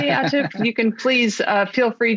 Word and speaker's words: Atif: And I think I pronounced it correctly, Atif.